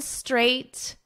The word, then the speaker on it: straight: So you just add a str onto the number 8.